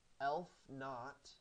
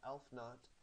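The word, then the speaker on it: aleph-naught: And he studied the mathematics of infinity and assigned the transfinite cardinal number elf naught, that's how you pronounce that, elf naught, to the set of natural numbers.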